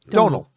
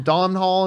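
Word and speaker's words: Domhnall: the word tonal yeah just think of that with a d oh donal oh because i used to call i was i called up dom hall i called him don hall and stuff like that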